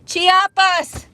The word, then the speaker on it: Chiapas: Pronunciation. Thank you. Because I don't know how to say that. Oh, Chiapas.